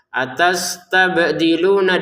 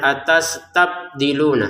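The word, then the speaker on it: أتستبدلون: atastabdiluna di sini ba sukun mengikuti yang sebelumnya qof sukun dal sukun ya mereka semua ini tiga ini adalah bagian dari anggota baju di toko harus dipantulkan jadi jangan sekedar atasdiluna harus dipantulkan atastabdilunalladzi hua adna ya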